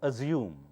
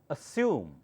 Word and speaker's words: assume: next one listen carefully it's not assume double s does not take the sound of z s sound assume assume or American English